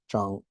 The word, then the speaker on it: Zhang: The Z is like a DS or a Zuo, and the ZH here is Zhang.